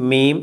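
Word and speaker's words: ميم: ഈ അക്ഷരത്തിൻ്റെ പേര് മീം എന്നാണ്, എം ഇ ഇ എം എന്നെഴുതിയാൽ എങ്ങനെ വായിക്കും, അതുതന്നെയാണ് ഇതിൻ്റെ ഉച്ചാരണം, മീം.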